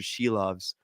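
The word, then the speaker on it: Šilovs: and I was like it's Archer sheaves and then yeah and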